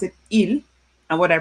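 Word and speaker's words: ils: Please take note it's not pronounced eelss. I know sometimes my students make a mistake and say eels. No, the s is silent.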